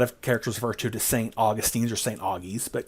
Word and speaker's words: St. Augustine: We hear a lot of characters refer to as St. Augustines or St. Augies, but Connie says St. Augustine, which is probably the more correct pronunciation.